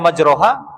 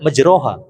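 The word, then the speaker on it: مجراها: Kenapa Anda baca majroha? Padahal Imam ee apa namanya? Imam Hafz itu tidak membaca dengan majraha begitu. Cuman karena tulisannya seperti itu, akhirnya orang awam bacanya majrohah.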